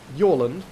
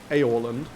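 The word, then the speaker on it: Jorlund: aorland and you're like no no its name is very definitely yoland not aeorland even if that's how it's spelled was there no vocal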